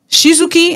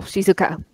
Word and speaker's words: Shizuka: Shizuki, am I saying it right? No, Shizuka. Shizuka.